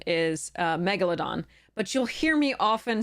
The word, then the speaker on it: Megalodon: correct pronunciation is uh Megalodon so the emphasis is on the first syllable um so because it